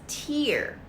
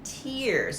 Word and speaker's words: tear: this word here when it's a noun it's pronounced as tear as in tears on your face but here it's pronounced as